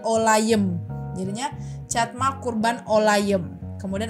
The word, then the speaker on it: olayım: and then ada itu olayim itu kayak I yang enggak ada titik bacanya e jadinya olayem jadinya catma kurban olayem